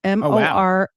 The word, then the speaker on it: Mormont: a village of Mormont, Mormont. I've double checked this. That is a place in Belgium, and it is crazy pronounced because it actually said Mormon. it's pronounced Mormon.